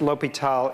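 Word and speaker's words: L'Hôpital: So it's the same thing, and it's still pronounced L'Hopital, even if it's got an S in it.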